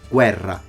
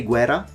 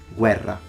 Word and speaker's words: Guerra: is a pronunciation mistake a Double R is pronounced as a Double R all the time Guerra there are some Italians that say Guerra but they are in